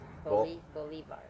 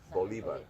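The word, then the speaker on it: Bolívar: They Americanized it. Simon Bolivar. Bolivar.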